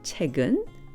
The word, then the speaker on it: 책은: 책, the book, followed by the topic particle 은, 책은, which is pronounced 책은.